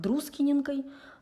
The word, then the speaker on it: Друскининкай: В Википедии стоит ударение как Друскиненкай, но я слышала только Друскиненкай, так что не обижайтесь.